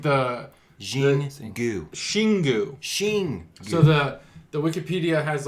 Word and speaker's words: Xingu: Shingu. So the Wikipedia has like the pronunciation.